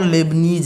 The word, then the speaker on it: Leibniz: Newton और लेबनीज ने, ये क्या लिखा है समझ में आ रहा है ना?